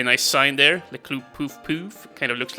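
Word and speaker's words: Puff-Puff: Club Poof Poof, or Poof Poof, as I believe it's supposed to be pronounced, kind of French, but who knows.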